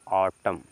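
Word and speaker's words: autumn: मतलब हो जाएगा कि लास्ट में एन साइलेंट हो जाता है क्या हो जाता है एन साइलेंट तो इसको क्या पढ़ेंगे एन पढ़ एन साइलेंट रहेगा तो पढ़ेंगे इसको ऑटम ए यू को बताए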